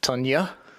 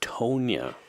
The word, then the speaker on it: Tonya: Tanya. It's Tonya. Tanya. No, Scott. Oh. How do you say it? Tonya. Tunya. Like petunia? Yeah.